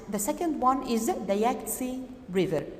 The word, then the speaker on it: Yangtze: second one is the Yangtze River take care that the T is silent here what about other landforms